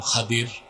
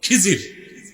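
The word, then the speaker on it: الخضر: আমার এক নেককার বান্দা তার নাম খাদির যারে আপনারা বলেন খিজির উচ্চারণটা কির আমাদের দেশের লোক বলে কি খিজির এটা ভুল উচ্চারণ শুদ্ধ উচ্চারণ কি মুসা নবী বলছেন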